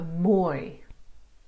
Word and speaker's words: mooi: The lang oi in boy for mooi and rooi.